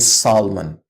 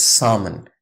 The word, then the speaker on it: salmon: love to this isn't Salomon its summon the AL again is silent in both of these words almond and salmon chaos whenever there is